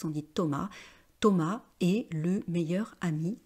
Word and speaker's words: Thomas: continuer Thomas vous voyez on prononce pas la dernière lettre on ne prononce pas la dernière console on dit pas Thomas on dit Thomas Thomas est le meilleur